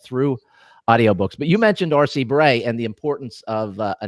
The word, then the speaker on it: R.C. Bray: It's pronounced R.C. Bray. Yeah. Spelled completely different.